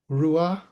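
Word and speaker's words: רוח: In Hebrew, it's pronounced ruah. Think of Ru as in Winnie the Pooh's Ru. So Ru, ah.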